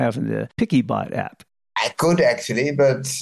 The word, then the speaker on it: PiccyBot: blind using screen readers many screen readers pronounce it as pixie bot and when I was